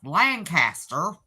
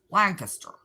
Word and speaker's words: Lancaster: You might be from South Central Pennsylvania if you pronounce Lancaster, which that's the way we say it, as Lancaster. Is that true?